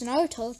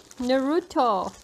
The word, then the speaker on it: Naruto: No, you are pronouncing it wrong. Naruto. You are saying Naruto. It like Canadian. Say it like Japanese guy.